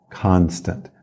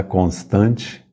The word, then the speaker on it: constant: uma constante inglês Constant Constant não é constante é Constant a força tônica é na primeira sílaba Constant e o o se pronuncia como um a bem aberto Constant Constant agora vamos